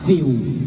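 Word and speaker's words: Viu: ใหญ่ แค่ 10 บาท วิว แปซี เตี้ เกาหลี ที่ มี ภาค ไทย และ อีสาน เยอะ ที่ สุด ใน โลก ดาวน์โหลด บน มือ ถือ หรือ ดู ผ่าน เว็บ ได้ ทุก ที่ vi อ่าน ว่า วิว ใคร ๆ ก็ วิว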